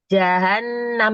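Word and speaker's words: جهنم: Bu bilang jahanam jahanam jahannam gitu ya jadi jahanam itu dibacanya jangan mengeluarkan udara tapi juga tidak boleh berlebihan dalam menahan aliran udara sehingga seperti ya jadi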